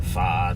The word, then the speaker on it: pho: They have banh mi and pho or pho, Yeah, depending pho. on how you want to pronounce it.